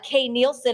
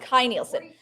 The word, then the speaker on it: Kay Nielsen: early concept work on Sleeping Beauty by uh Kay Nielsen and we're gonna start the bidding app Kai Nielsen okay okay this is Kai Nielsen so it's pronounced Kai Nielsen 4200 is the bit I'm looking for 44.